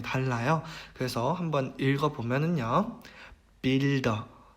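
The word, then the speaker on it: Bilder: 그래서 이것도 일반적으로 쓰이는 발음과 그다음에 단어의 끝에 왔을 때의 발음이 달라요. 그래서 한번 읽어보면은요. builder, builder, built, built 이렇게 되죠.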